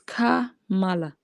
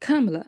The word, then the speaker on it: Kamala: Her name is Kamala. Her name is Kamala. Like when you make a comma behind Kamala.